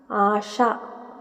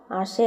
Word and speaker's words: ആശ: എന്നൊക്കെ പറയുന്നവരുണ്ട് പശയാണ് പശ ആശ ആശയ അല്ല ആശ മഷി മശി അല്ല മഷി